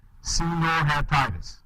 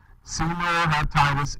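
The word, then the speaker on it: Caenorhabditis: you want um answered okay so this animal Senor hatius that's how you pronounce that word just in case you're wondering Seno heitis Elegance or most commonly called C Elegance all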